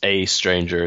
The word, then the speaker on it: aeStranger: correct me in a second how do you pronounce a stranger it's just a stranger it's just that that sort of letter combination